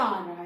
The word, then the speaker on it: hour: वो साइलेंट है ना, आवर में एच साइलेंट होता है, उसका कोई साउंड नहीं, साउंड किसका आ